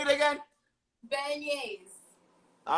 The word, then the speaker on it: beignets: Okay, so say that we're making jambalaya and that other word I couldn't pronounce it. How do you say it? Beignets.